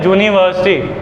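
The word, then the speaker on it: university: पर बोलने के टाइम थोड़ी यू की आवाज़ आती है। जो इसकी राइट प्रोनाउंसिएशन है वो है यूनिवर्सिटी। क्या बोला? यूनिवर्सिटी। आवाज़ किसकी है, यू की ज की?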